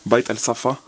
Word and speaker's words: Bait Al Safah: C'est le musée de, je vais essayer de bien le prononcer, Bait Al Safa.